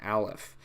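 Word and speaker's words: ألف: just like this so Aleph is pretty simple it's only connecting to the right it makes an a sound so it's pretty easy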